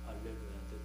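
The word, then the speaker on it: Alléluia: 4절에서 할렐루야라고 하는 것은 어 영어식으로 할 때 할렐루야하고 이건 프랑스 사람들이 부르는 장점이니까 프랑스 발음은 어 a H를 어 히 발음하지 않고 A 발음을 합니다. 그래서 할렐루야인데 뜻은 할렐루야와 똑같다고 말씀드리고요.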